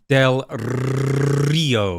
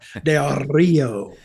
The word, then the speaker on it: Del Rio: Say his name right. Del Rio. You gotta roll the R. Del Rio.